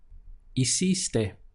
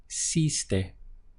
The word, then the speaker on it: hiciste: For that, we would say hiciste, hiciste. Let's break this one down, starting the pronunciation from here, E, and then hiciste, hiciste.